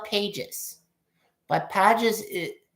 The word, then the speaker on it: Pages: I know it's spelled Pages.